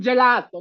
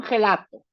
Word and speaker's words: gelato: te comes un helado, es un yelato, no es un gelato. Gelato. La g y la e van a sonar, vamos a poner en gris, como y.